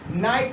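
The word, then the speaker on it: knight: के रहेगा तो ये हट जाएगा, यानी कि नाइट हो जाएगा, जिसका मतलब होता है योद्धा, वीर, है ना। इसको हम क्या पढ़ेंगे, नाइट पढ़ेंगे।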